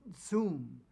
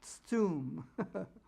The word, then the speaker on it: tsum: It's pronounced tsum. T-S-U-W-M is how you would spell it if you were to spell out the Hebrew. It's pronounced tsum.